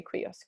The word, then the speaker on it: cuius: So cuius, or you could say cuius if you want, but I say cuius.